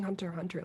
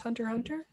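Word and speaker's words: Hunter × Hunter: the remote wilderness yeah it's generally typeset hunter x hunter but i believe it's pronounced hunter hunter every single episode has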